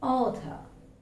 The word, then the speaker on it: author: It's author. Author. It's not. Yeah, we usually pronounce it rightly. Author. But there is no need to articulate the last sound. It's not author. It's author. Author.